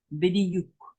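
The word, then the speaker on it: בדיוק: Bidiyuk. Bidiyuk. Be, di, u, bidiyuk. You don't really hear the W. There's only a U.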